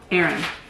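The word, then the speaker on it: Aren: Aaron. Even Aaron pissed me off. It's spelled A-R-E-N.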